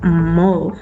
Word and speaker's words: mob: Sin embargo, la raíz mob, que la pronunciación es mob, hace relación directa a un grupo, y las investigaciones siempre han dicho que se refieren a un grupo acosador.